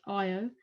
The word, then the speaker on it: Io: says they're very volcanic because IO it's not yellow it's IO this is pronounced uh they're all named after um dear